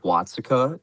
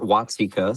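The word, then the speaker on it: Watseka: Uh, the Airbnb was at the Wonder of Watsika or Watsika, sorry, I learned that's how you pronounce it.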